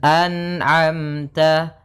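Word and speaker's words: أَنْعَمْتَ: Karena sifat nun tidak boleh mantul, maka dibaca dengan an'amta. An'amta. Nah, kemudian sempurnakan antara hamzah dan ain dibedakan a kemudian a an a anamta. Kemudian ta jangan terlalu banyak yang ta biasa saja ta.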